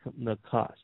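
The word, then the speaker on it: נָחָשׁ: Nachash is pronounced Nachash.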